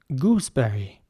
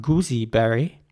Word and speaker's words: gooseberry: Gooseberry. And the important thing here is to basically not pronounce the E after the S in the center, in the middle. So it's not goosey berry, but it's gooseberry.